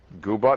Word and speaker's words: Goobot: Goobot is right. You're one of the few people who get that pronunciation right.